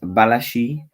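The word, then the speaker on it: Badiashile: obviously the center back next to him is balashi and that's how you pronounce his name um he looks very good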